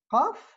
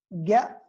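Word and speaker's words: ق: Après, on a l'uvélaire qaf, harf lahawi, c'est une occlusive sourde et réalisée également ga dans des parlers bédouins ou encore dans Bilad al-Sham, si vous voulez. Donc, le qa n'est pas facile à prononcer par un francophone qui n'est pas initié à la langue arabe.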